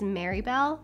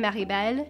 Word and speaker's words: Maribel: video my name is marybel that's just how i say my name just like in english the way that my dad named me is maribel so that's how you actually say my name maribel a lot of people